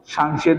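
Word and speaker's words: 쌍시옷: আর যখন আমরা কি লিখবো, যে সাংশিয়ত লিখবো, মানে দুইটা শিয়ত লিখবো, সাংসিয়ত লিখবো, তখন এর উচ্চারণ হবে কার মতো? তালবের, তালবের স।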